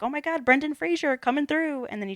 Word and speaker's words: Fraser: just cuts him off it's freezer yeah he's like oh it's real it is Fraser yeah and Dicky I think even says like why do people say it that way I think I mentioned